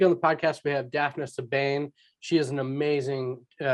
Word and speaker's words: Daphna: Am I pronouncing your name right, by the way? Yes, you Okay. are. It's Daphna.